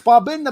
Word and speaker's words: Babinda: Oh, it's Babinda, mate.